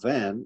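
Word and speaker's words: ו: letter when it's transcribed you don't say the v from van but a w so when you see a w it's for the letter va and if you pronounce it like this it's also like you pronounce it we from we the number of the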